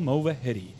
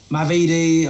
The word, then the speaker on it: Movahedi: Movahedi. You gave me the little look of, yeah, that's it. Say my name. Not many people get my surname right. I've had Movahedi, Mavidi.